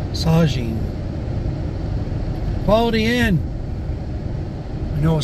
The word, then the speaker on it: Saugeen: Saugeen, not Saugeen. Saugeen. God, I don't know why I want to pronounce that G with the G instead of the Z, because it's the Z. Sajin.